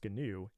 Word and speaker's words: GNU: but wait a minute what is gnu it's pronounced ganu and it's a project that predates the Linux